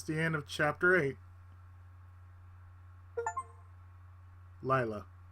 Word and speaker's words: Lila: end of chapter eight Layla or Leela take it back they they sound the same name it's pronounced Leela what you say the